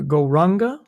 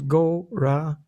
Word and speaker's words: Gauranga: So the mantra we'll be using now is the mantra Gauranga, divided into 4 syllables, Gauranga.